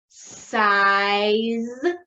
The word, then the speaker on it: size: for the letter z the e is silent let's tap it out ready i z size size very good excellent like your shoe size very good so these